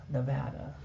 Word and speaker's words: Nevada: And that's the way you pronounce it, folks. Nevada.